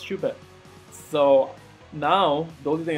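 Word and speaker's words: Shuppet: I think I was saying the name wrong the whole time. It's Shubat.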